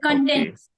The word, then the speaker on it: content: First, there are two pronunciation of the same word. That is content. We watch, we consume, we read. That is content. And second is content. Content. Content is when you are happy or satisfied.